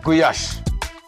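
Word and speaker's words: gulyás: है सो आ शर it's Hungarian dish जिसका correct pronounce है गुया जिसमें मीट क्यूब्स कैप्सिकम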